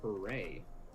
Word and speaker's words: hurrah: Because first of all, it's pronounced hooray.